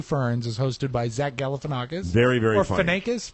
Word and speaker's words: Galifianakis: I'm just surprised you didn't know how to pronounce the name. Really, after all these years, that surprises you. Galifianakis.